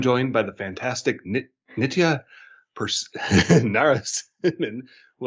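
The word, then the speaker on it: Narasimhan: by the fantastic nitia pers naras who i always remember because it rhymes with persimmon that's the trick it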